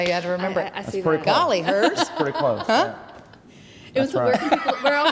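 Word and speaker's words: Golliher: r okay golly hers a is that right golly hers yep that's right that's how you had to remember golly hers pretty close where where all can people see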